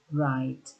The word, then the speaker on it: write: 30, write. Ya, bacanya write, bukan write. W-nya abaikan. W-nya nggak usah dibaca. Langsung saja mulai dari R-nya. Write.